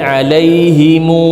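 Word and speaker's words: عليهم: Kalau bertemu dengan huruf mim jamak, mereka sukanya disambungin, dibaca dengan alaihimu gitu. Ada silahnya, ada mat silah di situ. Nah, tapi kalau bacaan kita Kufah itu dia dengan sukun. Ya, dengan alaihim ya, dengan alaihim. Contoh kalau kita baca ghairil maghdubi alaihim waladdallin, sukun mim jamak ya, alaihim.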